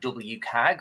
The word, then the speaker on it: WCAG: are things um like wag or or people don't know how to pronounce it sometimes they're like wag or how again say the letters are WC a and it stands for